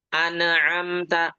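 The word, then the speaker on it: أَنْعَمْتَ: An'amta semuanya idhar. An itu idhar halqi, am itu idhar syafawi ya. Jelas. Bagaimana cara membacanya? Dialirkan sedikit nunnya, nun sukun tadi alirkan sedikit, mim sukun juga dialirkan sedikit. An'amta, an'amta ya.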